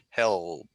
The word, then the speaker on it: help: So the tip of your tongue goes up to the alveolar ridge behind your upper teeth. O, o, o, o. So up, up, and behind your teeth, and you do use your voice. So help, help, help. Okay. So work on the L sound, help.